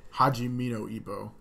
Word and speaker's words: Hajime no: Hajimino. That's how it's pronounced.